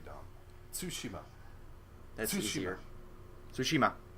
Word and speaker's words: Tsushima: Tsushima. You have to say the T with the S. Yeah, if you're trying to say it correctly, I mean. Tsushima.